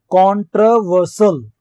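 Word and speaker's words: controversial: कॉन्ट्रोवर्सियल, कॉन्ट्रोवर्सल, कॉन्ट्रोवर्सल इसका pronunciation होगा actually में, कॉन्ट्रोवर्सल, कॉन्ट्रोवर्सल विवादास्पद, जिसमें विवाद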